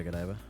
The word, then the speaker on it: Godiva: Godiva? Yeah, Godiva.